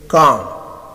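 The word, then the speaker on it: calm: एल बाज़ औक़ात silent रहता है, जैसे कॉम, पॉम, वॉक एंड टॉक।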